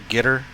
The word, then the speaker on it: Qatar: It's pronounced like guitar, but with an ER instead of an AR at the end, like gitter.